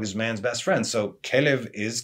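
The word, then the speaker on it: כלב: Kelev, as in kalev, as heart.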